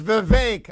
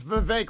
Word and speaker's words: Vivek: rhymes with cake it's Vivek I got trained by the bevankian people it's Vivek rhymes with cake but I can't believe